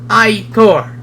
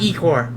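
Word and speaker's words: ichor: That's pronounced eye core. It's not e core. It's eye core.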